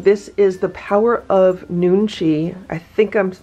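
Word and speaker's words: 눈치: sense for winning friends and influencing people nunchi pronounced nunchi can help you connect with others so you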